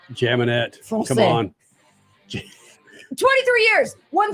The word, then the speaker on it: Jaminet: stories yes yes yes his last name is what probably Gemini and I just butchered it statman help me out here the m a Gemini Gemini okay jaminette come on 23 years